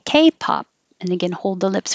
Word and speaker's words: K-pop: K-pop, the stress is on K. K-pop. And again, hold the lips for the P. K-pop.